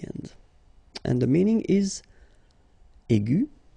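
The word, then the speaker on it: aiguë: Okay, and then the feminine form will be aigu. So phonetically, it is exactly the same thing. Okay, but then you should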